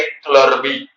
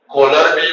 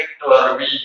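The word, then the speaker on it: kohlrabi: कोलरबी मत बोलना, उसका प्रोनाउंसिएशन कौन सा है भाई? क्लर्बी है। कौन सा है भाई? क्लरबी, ऐसे बोलते हैं क्लर्बी।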